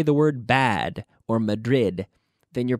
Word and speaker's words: Madrid: ma'am my the wreath no Madrid Madrid Madrid you need to seal that sound and pronounce that D the way it giveth the pronunciation that it deserves bad blood there's bad blood in Madrid bad blood okay pronounce those d's please repeat after me